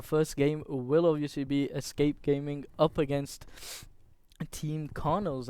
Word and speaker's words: ESC: According to Team ESC, sorry, they told us to pronounce it as ESC, and Which is in fact Escape.